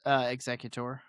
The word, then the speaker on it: Exeggutor: The spelling swaps an egg to maintain the evolutionary connection while still sounding like executor. It's pronounced executor.